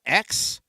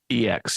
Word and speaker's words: EX: So at number five is the Mega Greninja X. EX.